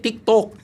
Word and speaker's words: TikTok: Hindi tiktok ano ba talaga 'yung tama na ano sabi ko saung tiktok 'yung ano 'yan 'yung mint 'yan eh.